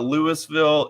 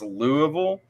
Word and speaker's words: Louisville: not it's versales um Louisville is intentionally not Lewisville it's Louisville um bourbon is a